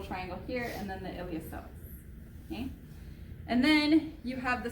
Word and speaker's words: iliopsoas: spell it but it iliopsoas the P is silent so I recommend saying